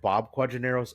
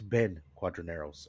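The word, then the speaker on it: Ben Quadinaros: And uh for any of my Star Wars fans out there, I said Bob Quadronos. It's Ben Quadronos. I had to correct myself. I knew I said it wrong.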